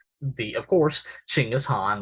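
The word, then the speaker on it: Chinggis Khan: the of course ching is han more commonly known as genghis khan but that's not correct pronunciation the founder of the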